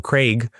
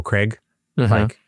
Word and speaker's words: Craig: They call him, in America, we call him Daniel Craig, like C-R-E-G, Craig. He's like, it's Craig. That's all.